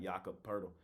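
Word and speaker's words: Jakob Pöltl: leave me alone I finally said it right yakup purle but all those guys are game time decision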